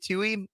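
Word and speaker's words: Tuohy: Sean and lei and Tui t-u-o-h-y to he might be the right way to say it who took Oher into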